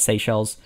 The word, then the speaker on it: Seychelles: is from the seychelles i'm pretty sure is how you say that seychelles um which is yeah